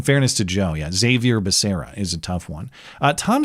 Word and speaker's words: Becerra: Javier Baccaria, I think, was the way Joe Biden pronounced his own HHS secretary's name.